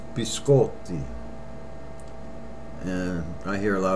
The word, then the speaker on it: biscotti: Americans pronounce incorrectly when their order cookies it's be sculpted yeah I hear a lot of Americans say can I have a biscotti incorrect be sculpted and that means cookies plural be sculpted not biscotti okay b-school the next word honey